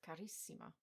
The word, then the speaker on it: carissima: Bella is stressed on the penultimate syllable, but bellissima is stressed on the first I. Same with carissima.